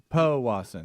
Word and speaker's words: Powassan: Yeah, it's Powassan. Powassan. Speedy, Powassan. remember on all pronunciations, just hand it off to somebody else.